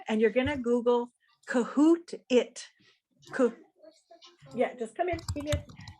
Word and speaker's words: Kahoot: kahoot i know some of you are familiar and